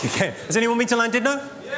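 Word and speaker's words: Llandudno: Well, how's it pronounced? I was in North Wales uh last year. It was in Landidno.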